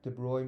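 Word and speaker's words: de Broglie: following has the largest de Bry wavelength de broy means this is how you pronounce it French name yeah so Lambda wavelength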